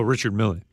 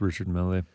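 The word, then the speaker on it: Richard Mille: than Richard mle oh Richard melee yeah I think I think it's the French name yeah so I'm probably just going to stick with Richard melee uh Matthew I appreciate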